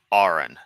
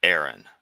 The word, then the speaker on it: Aron: Okay, it's Ain, not Aaron.